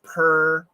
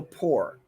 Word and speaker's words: poor: poor poor and poor but poor has two pronunciations so the first one per and also poor you will hear people's poor people you'll hear that too uh if you wanna